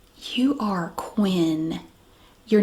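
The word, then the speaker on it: Kwyn'ne: make you so unique k w y n apostrophe n e Quinn pronounced Quinn but it will look like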